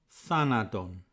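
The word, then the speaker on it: θανάτῳ: The first thanatos is spelt with an omega at the end, and the stress is in the middle. It's in the second syllable, and the second thanatos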